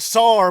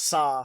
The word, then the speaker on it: Sa: SAR weird yeah so they pronounced it sore but it's written just sa so I always thought it was saw that probably the saw